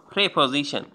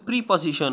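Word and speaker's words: preposition: প্রেপজিশন, এটার উচ্চারণ হয়তো প্রিপজিশন না, এটার উচ্চারণ প্রেপজিশন। একটু আপনারা ইংলিশ এটা খুঁজে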